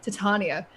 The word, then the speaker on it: Titania: Like I feel like we don't really have, I guess now with E3 and seeing Titania, I learned how to pronounce that yesterday. Titania.